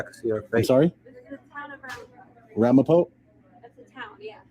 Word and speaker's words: Ramapo: I wish I could see our face sorry Ramapo that's a town yeah Ramapo though that's how you say it okay thank